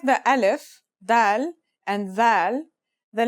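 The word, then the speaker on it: ز: a DOT on top in terms of pronunciation you say it just like the English Z as in zebra or Al jaaz practice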